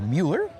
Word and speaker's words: Mueller: We are in the Miller community, pronounced Miller or Mueller. It's spelled Mueller.